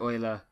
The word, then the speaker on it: Euler: how you pronounce his name i will probably pronounce it you love don't hate okay so Leonard Euler was a 18th century Swiss mathematician you probably